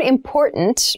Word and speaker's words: important: important so the word important means something that we need to consider carefully yes the pronunciation of this word that first t is actually reduced it sounds more like a d in fast speech water is important to